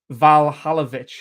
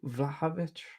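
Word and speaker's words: Vlahović: So it's like Vlahovic, Valhalovic. But there's not like a second L, unless it's just a weird Serbian pronunciation. I don't know, because it's VLAHOVIC. So it's Vlahovic.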